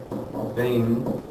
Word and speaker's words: veintiuno: So then we get veintiuno. So it does have slightly different pronunciation.